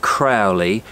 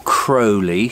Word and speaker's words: Crowley: If I mention the name Aleister Crowley or Crowley, depending on how you want to pronounce it, maybe that will start to upset your stomach.